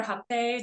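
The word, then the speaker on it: rapé: Yeah, Rape. what is that? So rape or hape, depending on how the pronunciation is, it is a sacred tobacco snuff.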